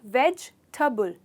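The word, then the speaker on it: vegetable: Generally हम वेजिटेबल ऐसे pronounce करते हैं, पर दोस्तों ये टेबल नहीं है। टेबल तो हमारा मेज़ होता है। यहाँ पर इसका प्रोनाउंसिएशन होता है वेजिटेबल। वेजिटेबल, तो इसमें सिर्फ 3 हिस्से हैं, ना कि वेजिटेबल।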